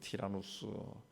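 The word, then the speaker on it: Τύραννος: 두란노 소원에서 날마다 강론했다 두란노라 하는 것은 원래 그 헬라 발음으로 티라노스입니다 티라노스 번역되면서 듀란도라도 있는데 고대 헬라 세계는 티라노스라는 유명한 철학자가 있었는데 그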